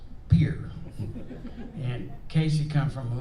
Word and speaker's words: Pierre: pier is the uh that's spelled p-i-e-r-r-e i think it's french they pronounce it pierre but in south dakota it's beer and casey comes from